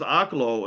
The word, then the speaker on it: Oklo: So, this somebody says, "Why you not saying Oaklo anymore?" Cuz I heard somebody pronounces Oklo and I didn't want to be ignorant no more. So, I So, I said, "I'm going to start saying it that like the like the people on TV."